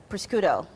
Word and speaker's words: prosciutto: And for those who haven't used the prosciutto, I think I said it wrong.